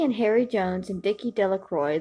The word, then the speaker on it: Delacroix: Harry Jones and Vicki delacroix the villagers pronounced this name delacroix that's how I pronounced it sorry eventually made